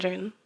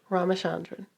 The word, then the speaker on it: Ramachandran: Ramachandran. Oh, did I say it right? Ramachandran. Ramachandran.